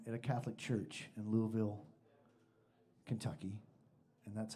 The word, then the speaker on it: Louisville: up for him at a Catholic church in Louisville, Kentucky, and that's how you pronounce it.